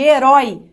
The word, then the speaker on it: herói: Olha como eu abro minha boca pra falar.